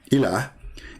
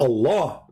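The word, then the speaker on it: إله: But al-ilah, al-ilah, ilah, is simply E-L, and there is little H at the end, like a sound of a music. Ilah. Still, it's ilah. It's not Allah. It is Il. Idiot. Il. Ilah. That sound at the end, the little tiny H, it's not really even an H. It's like a music sound.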